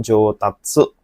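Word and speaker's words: 上達: 3 jodachi, atau 4 jotatsu? Hai, yang manakah jawabannya? Hai, oke. Jawabannya adalah untuk kanji nomor 1 ini, minasan, yaitu yang pilihan nomor 4, yaitu jotatsu bacanya ya.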